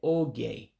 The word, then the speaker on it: oge: And remember, the letters are not pronounced as in English. Some of them do have different sounds than what we're accustomed to when English is your first language. The O is, of course, an O.